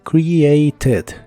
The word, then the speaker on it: created: suena la última e created created algo adicional es que en inglés americano es común pronunciar esta t como r Así que también puedes pronunciar esta palabra como created created la puedes usar en